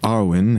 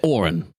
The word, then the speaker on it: Orin: yeah right seems like Arwin has a lot of buns in the oven you're trying to say Orin right Arin or Orin the god of life and death Orin yes how do